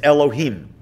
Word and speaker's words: Elohim: road when you're praying you would be able to pronounce that name as it is written otherwise what we usually do is alter it slightly and we might say something like ello Keenan one reason that God's